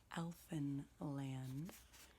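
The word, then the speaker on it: Alphinland: are about writers so the first is called elfin land and that is spelled a-l-p-h-i-n-l-a-n-d would be too small for me to trace um and alfin land is the name of the fictitious world created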